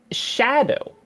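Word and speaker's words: Scadutree: Someone wrote in and said, let me find it real quick, that it is in fact pronounced shadow. Skidoo is derived from Old English and is just pronounced shadow.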